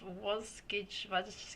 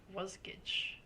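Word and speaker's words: Wasgij: so Ida says that from the website of was gage g is jigsa spout backwards and is pronounced was G was Gage okay so I guess also people in different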